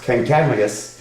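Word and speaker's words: Kancamagus: This person, I've heard somebody tell me that his name was actually pronounced Kankamagus, but however we pronounce his name, he was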